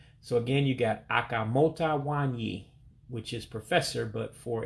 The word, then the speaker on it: nwanyị: So it's Au-Kam-Moe-Tah Wahn-Yea for female professor.